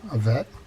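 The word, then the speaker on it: Avet: that have come from a vet. Now, Scott from California is cringing now because he said it should be Av-et, and I put it on my emphasis on the wrong syllable.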